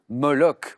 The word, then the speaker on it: moloch: c'est pas très beau c'est le moloch oui ch qui se prononce cas et alexandre et bien